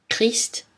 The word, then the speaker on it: Christ: Mais attention, dans certains mots, CH se prononce K. Archaïque, archéologie, bac, cholestérol. Christ, orchestre, psychologie, technique.